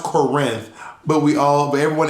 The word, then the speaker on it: Corinth: karen conrad conrad and i but it's actually pronounced corinth but we all but everyone in corinth says current conrad and i um was raised in brooklyn